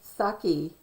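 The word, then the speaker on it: Psaki: played the role of jen saki p s which is silent p p s a k i who is the white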